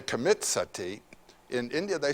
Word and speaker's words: sati: You know the word sati in Sanskrit it's spelled s a ti long i.